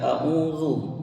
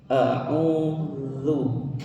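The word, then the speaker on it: أعوذ: Jadi ketika kita baca ta'awudz, perhatikan ketika kita baca a'udzu ya, dari ain ke za itu bibirnya tidak monyong terus, tidak a'udzu tapi a'udzu gitu ya.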